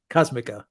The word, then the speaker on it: Cosmica: his last donation and you're pronouncing my name right cosmica thank you very much